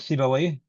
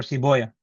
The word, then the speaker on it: Sibawayh: Same with Sibawayh. And the scholars of hadith, they say Rahoya or Siboya.